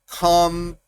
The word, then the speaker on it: computer: Computer, computer. Escuchen cómo separo las sílabas. Computer. Computer. El acento está en el pu.